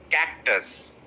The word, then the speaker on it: cactus: style of speaking is they will stress the last syllable so they will say napkin cactus right but it is cactus cactus that is the next word